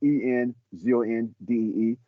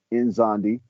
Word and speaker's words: Nzondi: It's pronounced like Enzondee, Nzondi.